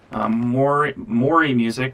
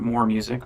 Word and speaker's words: Mori Music: Mori Music, not More Music.